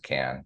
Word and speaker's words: MQAN: MQAN is pronounced McCann, and I'm McCann.